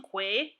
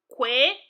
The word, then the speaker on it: Kw: Parents, I will need your assistance in pronouncing Kwe so that your children can pronounce it properly. Say it with me. Kwe, Kwe, Kwe, Kwe, as in the word quilt.